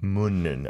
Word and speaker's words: 묻는: 묻는. Okay. Think of 문 in the studio.